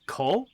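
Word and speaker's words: 子: Yeah, okay, apparently the pronunciation for the kanji you're looking for is ko, which translates to child.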